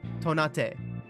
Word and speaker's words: Tonate: So when I was originally playing this game, I was pronouncing Ted Tonate's last name as if it were Japanese, saying Tonate. And thus the pun Tonate. flew over my head Oh no.